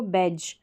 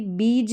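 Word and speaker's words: beige: है उसको बेज तो यहां पर भी बीज नहीं पढ़ेंगे इसको बेज पढ़ेंगे क्या पढ़ेंगे बेज और ये जो जी ई है जी ई का उच्चारण यहां पर ज हो रहा है कहे तो जी का उच्चारण ज हो रहा है क्योंकि ई तो लास्ट में साइलेंट रहता है तो इस तरीके से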